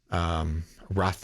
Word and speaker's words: rothe: Rothe, I think it's pronounced. Pronounced Rothe. I think that's how you pronounce it.